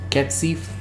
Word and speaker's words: Cat Sith: Someone tell me how to pronounce it. It's Cat Scythe.